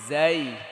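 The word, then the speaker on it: زاي: এই হরফটার নাম কি জাই উচ্চারণ করেন বাতাস বের হবে নাকি জিজি পোকার মতো একটা আওয়াজ হবে কেমন সিন সিন শিন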